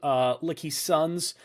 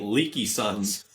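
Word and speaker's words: LKYSUNZ: Potential new F1 team, Lucky Sons, I think is technically how it's pronounced. I don't know. I was in my head pronouncing it Leaky Sons. I think it's Lucky Sons technically.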